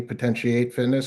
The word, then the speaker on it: Potentiate Fitness: And now you have your own company, Potentiate Fitness. Am I pronouncing that right? Potentiate fit. Potentiate Fitness. That's correct.